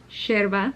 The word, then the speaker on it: yerba: But in Argentinian culture, it's pronounced yerba, because they pronounce their Y's like a sh, because we pronounce our Y's like a sh. And then what looks like mate is mate.